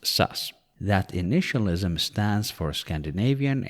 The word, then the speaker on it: SAS: its names is SAS in Swedish it's generally pronounced sus that initialism stands for